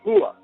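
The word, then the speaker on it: هو: Él, en árabe, referido a Dios, se dice Hua, pronunciado no como H aspirada, sino con lo más profundo de la garganta, cerca del esternón.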